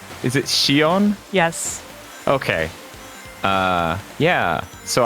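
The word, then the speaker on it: Xion: it has roxus I'm trying to remember the pronunciation of a character's name is it Shion yes okay uh yeah so I've seen cut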